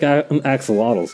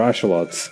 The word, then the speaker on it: axolotl: Kind of one of these sick axolotls now, too. Or axolots, I believe is like correct pronunciation.